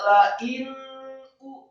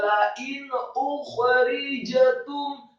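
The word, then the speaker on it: لئن أخرجتم: Nun mati ketemu huruf alif yang marfu atau dhammah, hukum bacanya izhar, tidak la in u, tidak. Tapi yang benar adalah la in ukhrijatum. Kata ukhrijatum setelah alif yang marfu atau dhammah 1 harokat, kemudian khoknya sukun, serak dan tebal.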